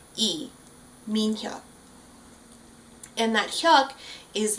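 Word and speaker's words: 이: It's spelled in English with Lee, but in Korean it's actually not pronounced Lee. It's just that straight up E, Min-hyuk.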